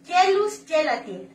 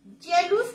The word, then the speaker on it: Geluz: Jealous con G, G-E-L-U-Z, Gelatin.